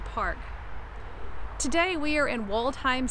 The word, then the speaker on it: Waldheim: Today we are in Waldheim Cemetery, or Waldheim for the German pronunciation.